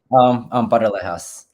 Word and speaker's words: Paralejas: Of course, Perelis, or how do you say your last name again? Paralejas. Oh, you gotta do it with that little tongue, right?